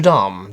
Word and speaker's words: Dame: even says in here notre dame dom rhymes with mom not lame now this is very